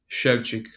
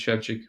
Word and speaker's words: Szewczyk: I'm pretty confident it's Szewczyk from my polished experience.